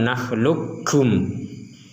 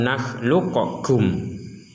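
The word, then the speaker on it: نخلقكم: Sehingga ketika dibaca alam nakhluqkum, bukan alam nakhluqakum.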